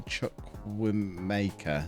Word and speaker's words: Chukwuemeka: Carney Chukwuemeka. Is that how you say his name? That'll do, yeah. Mecca, I think, but yeah, rather than Maker.